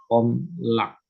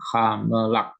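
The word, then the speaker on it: הָמְלַךְ: Kamets satu itu bentuknya seperti A, tapi bacanya O. Bacanya O. Nah, dia muncul pada suku kata tertutup yang tidak mendapat tekanan. Itu teorinya begitu. Ini suku kata tertutup kan dan tidak mendapat tekanan. Maka dibaca homlak.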